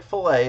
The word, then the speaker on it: fil-A: remember how it's spelled it is pronounced just like filet as in filet of fish or um fet Min